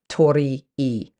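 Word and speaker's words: torii: which means bird and the letter I pronounced e uh meaning to be or to reside in the present so Tori e is how would be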